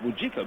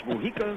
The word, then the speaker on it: Mujica: Lou Iike that the the J is silent it's like 1/8 Mujica here's the pitch that's down low and outside talking with Edward before the game he said it's pronounced mujika but skipping visalo tells